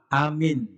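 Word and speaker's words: آمين: diampuni dosanya bacanya Bagaimana pertama Amin itu pendek boleh amin Panjang a-nya boleh pendek a-nya boleh panjang ada dua model bacaan itu disebutkan dalam tafsir Bahrul Ulum Ayo sama-sama diukan Amin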